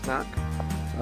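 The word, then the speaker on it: Knaek: over there, and there's this thing called the knack, which is spelled K-N-A-E-K, with which you can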